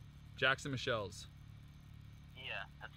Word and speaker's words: Michiels: A lot of people mispronounce it, but it's Michelle's. It's actually a European. Michelle's. Jackson Michelle's.